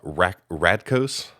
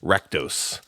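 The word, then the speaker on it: Rakdos: I probably already mispronounced I pronounced this uh uh R ratos uh guildgate instead of ratos uh it's just I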